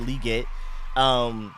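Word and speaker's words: Legette: Like St. Juice is on Liget. That's how he likes to pronounce it. He said Liget.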